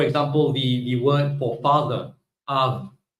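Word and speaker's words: אב: The word Av, father, is written as Aleph and Bet because the word was pronounced as Av.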